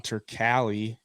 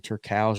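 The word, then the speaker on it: Turkalj: V tour Petrino Anton turkali I think that's how you say it actually I've been saying Turk house all week but it's turkey uh I took Petrino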